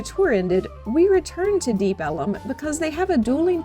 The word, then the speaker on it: Deep Ellum: section of Dallas called Deep Ellum. This area was originally called Deep Elm, as the area's main road was Elm Street, but early residents pronounced it Deep Ellum, and the name stuck.